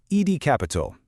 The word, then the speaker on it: EDCAPIT: Today we are diving deep into a pitch from a company called Ed Capital that's spelled ED C A P I T pronounced